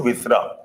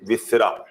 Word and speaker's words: viscera: The Americans call it viscera. Like we Indian, we make it viscera. Okay, Americans viscera. That is a pronunciation that is different.